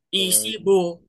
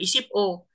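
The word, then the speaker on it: 이십오: Berarti bacanya gimana? Isibo ya, jangan isip-o.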